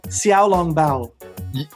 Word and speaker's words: xiaolongbao: and i want to ask you if i'm pronouncing it right yo hit me bro hit me is it xiaolongbao yeah you gotta spot on nice all right